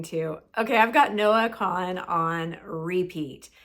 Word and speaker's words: Kahan: okay I've got Noah Con on repeat it's spelled k a an but I believe it's pronounced con not Kahan like you think it would be and the song I